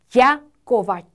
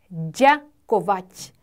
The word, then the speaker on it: ďakovať: ďakovať, ďakovať. 고맙다라는 단어인데요. 무려 단어 하나에 경국음이 2개나 있어서 혀를 붙였다가 뗐다가 또 붙여야 돼요.